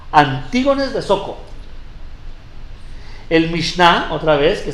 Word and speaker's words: Antígonos de Soko: Antígonos de Soko.